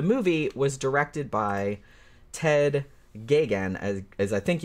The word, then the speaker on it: Geoghegan: gay look pronunciation is gigant even though there's way more letters than you would think yeah so um so hopefully I got that right if I didn't I'm sorry Ted but Ted gagan also directed a bunch